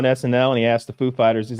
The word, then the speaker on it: Foo Fighters: and he asked the Foo Fighters he's like do I put the accent on the on the fool or Fighters and they're like on on Fighters ah so we comes